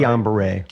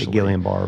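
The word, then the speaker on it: Guillain-Barré: in 1991 you contracted Gillian bar syndrome that's how you say it right gon Beret gon Beret I completely most people say gilan bar but um there two French guys that discovered it actually gon and Beret tell me what that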